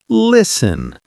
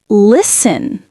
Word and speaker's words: listen: When you say listen, remember that the T is silent. So we say listen, not listen. Oh, so it's listen.